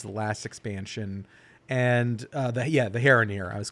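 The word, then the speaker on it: Haranir: But yeah, they're like these creatures that they were introduced in the War Within, which was the last expansion, and the Heraneer.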